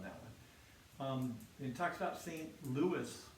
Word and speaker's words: St. Louis: It talks about St. Louis. We would say St. Louis, most of us, but in the song it's St. Louis because they wanted to rhyme with Missouri.